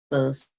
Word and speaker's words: first: Now, if you are using American English, words like first, where it ends with a t sound, you would exempt the t sound, which means you would omit that sound.